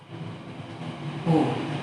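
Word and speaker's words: を: But when this is used as particle, it is pronounced as O.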